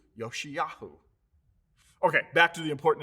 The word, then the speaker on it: Josiah: one of our sons in hebrew remember there is no j sound josiah is actually pronounced in hebrew yoshiyahu okay back to the